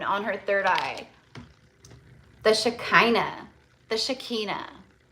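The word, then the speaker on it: Shekinah: her third eye the shakina the shakina I say shakina but you'll hear it pronounced differently the shakina the shikina the the shakina it's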